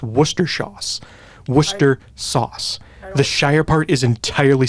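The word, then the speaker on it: Worcestershire sauce: be Worcester sauce the the Shire part of it is entirely silent what I'm not even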